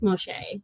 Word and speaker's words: Mo'Shai: But now I'm, in today's society, when people say my name wrong, I like, nope, it's Mo'Shai.